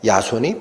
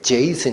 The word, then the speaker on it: 야손: 거야 이런 약조 하에 야 손이 풀려 와 따라 야손 일하는 사람 이름이 좀 우리말 표현이 좀 이상하죠 야손 영어로 발음 발음하면 그 제이슨 입니다 제이슨 야손 저희 슨 회의라는